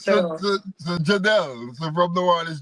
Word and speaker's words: Jadel: so, so Jadel.